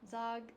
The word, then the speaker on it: Zaugg: Zaugg, yeah. Zaugg, pronounced like dog, but not spelled that way.